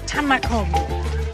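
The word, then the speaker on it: tam mak hung: And they're making the amazingly fresh green papaya salad, or tamakum.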